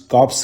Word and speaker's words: Corps: और ordinance कॉर्प्स जो है इसको प्रोनाउंसिएशन ऑर्डिनेंस कॉर्प्स करते हैं, आर इसमें साइलेंट होता है।